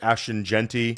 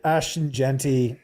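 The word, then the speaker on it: Ashton Jeanty: Scott, the chat does not like how you pronounce Ashen Genty. I know. I know. I know. I I Ashton Genty.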